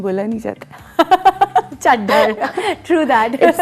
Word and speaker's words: Chaddher: चड्ढर सही बोला ना मैंने? बिकॉज़ अभी इस पर बड़ी डिस्कशन हो रही थी कि प्रोनाउंसिएशन अक्सर लोगों का जो है वो बड़ा मुख्तलिफ हो जाता है इस पर। तो मैंने सही बोला मैम? बिल्कुल सही बोला।